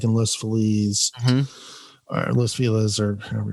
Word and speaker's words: Los Feliz: It's Los Feliz, but I'm like Los Feliz Navidad. No, Los Feliz. Yeah, I get finger wagged by a hipster. Give me a break. Felicia, it's Feliz. Feliz.